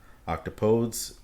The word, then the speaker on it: octopodes: either octopuses or octopi octopodes it should be noted takes a slightly different pronunciation than the other two words placing the emphasis on the second syllable rather than the first it most or less